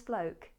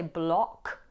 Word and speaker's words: bloke: Now with the word bloke, the vowel O is representing the diphthong O, O. So don't say block with a short O, but a moving O, O.